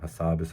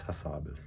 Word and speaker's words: Hassabis: That's how I like pronouncing his name. Hassabis, I think is his actual thing.